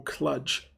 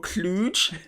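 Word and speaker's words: Kludge: cheap chinese keyboards that a brand called royal clutch oh no or royal cluj it's actually pronounced kluge it's actually bouquet but yes apparently they did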